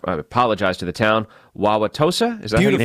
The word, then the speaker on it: Wauwatosa: going to probably not apologize to the town, Wauwatosa? Is that beautiful? How you pronounce it?